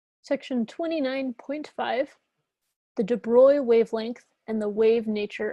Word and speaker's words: de Broglie: Section 29.5, the de Broglie wavelength and the wave nature of matter.